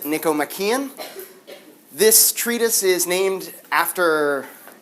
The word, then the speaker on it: Nicomachean: had a question like how do you pronounce that word you pronounce it Niko makan this Treatise is named